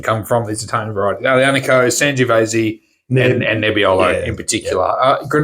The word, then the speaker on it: aglianico: So this aglianico. So the key with Italian varieties is you just pronounce them fast, particularly with aglianico.